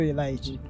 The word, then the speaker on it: Elite: it is Elite or Elite what is it the right pronunciation is Elite High School yes how about those that say it as aite well we would know that you an outsider what is Elite High